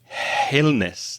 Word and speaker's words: illness: And the same pronunciation error I heard with illness. It sounded like illness. No, illness, no H sound, illness and air.